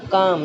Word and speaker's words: calm: बट हमको nervous नहीं होना है, हमको काम, CALM, काम। यहाँ पर हम ये एल नहीं पढ़ेंगे है ना, इसको CAM किस तरह से प्रोनाउंस करेंगे, स्पेलिंग क्या लिखेंगे, CALM, और पढ़ेंगे काम।